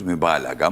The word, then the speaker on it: mübalağa: Mübalaga mı diyoruz? Diyebilirsin. Diyebilirsin. Mübalaga diyebilirsin. Gay'ı telaffuz etmezsen doğrudur. Ok.